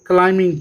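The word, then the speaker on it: climbing: तो बी जो साउंड है ये हम नहीं पढ़ेंगे, क्लाइंबिंग पढ़ेंगे इसे, क्लाइंबिंग, क्लाइंबिंग।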